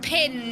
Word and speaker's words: Pin: uh pin it's pronounced pin now it's pronounced pin they confirmed it on their socials it's pronounced pin not pan so even though she